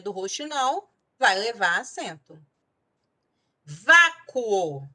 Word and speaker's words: vácuo: Vácuo, separando, vácuo, 2 sílabas. Então, nesse caso, eu tenho uma paroxítona terminada em ditongo crescente.